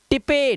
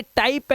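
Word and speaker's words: type: है, बाइक पढ़ना है, टिपे, टिपे नहीं है, टाइप है, ई साइलेंट है।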